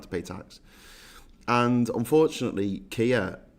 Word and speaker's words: Keir: And unfortunately, Kia rhymes with two-tier, which is a shame because Farage is the real two-tier guy in all this.